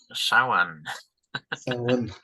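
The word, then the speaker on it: Samhain: a comment about that so Sam hay pronounced saan H and in fact if you look at pronunciations on the internet you get four or five different ones so take your choice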